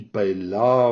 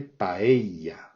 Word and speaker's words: paella: Alors c'est vraiment très différent de la manière de le prononcer en français, qui paella, enfin bon, la vraie manière de le dire c'est paella, avec le eia, qui est vraiment très fortement prononcé. Dès qu'il y a deux L, l'accent tonique est sur les deux L et la voyelle qui est juste avant. Paella.